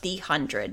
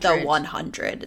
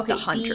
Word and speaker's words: The 100: It's pronounced the 100, not the 100. It's the 100.